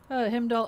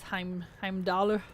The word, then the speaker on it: Heimdall: The English-speaking voice actors pronounce Himdall, make it sound closer to the actual thing rather than attempting to pronounce Heimdall.